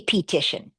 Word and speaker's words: petition: because it could be petition. I say, "You decoded that correctly. Let's make it a real word. Let's flex the e to a schwa." And they say, "Huh, pishun. Oh, petition."